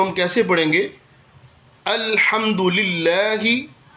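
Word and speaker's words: لله: الحمد للہ، للہ لفظ اللہ کو باریک پڑھیں گے کہ اس سے پہلے زیر آ گئی۔ للہ رب را پر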